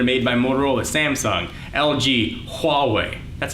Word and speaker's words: Huawei: phones whether they're made by Motorola Samsung LG Huawei that's how you pronounce that Huawei Android is all about openness and I get